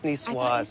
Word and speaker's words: niçoise: And thank you for teaching me how to pronounce salade niçoise. Niçoise. Are you sure there's a No, it's niçoise.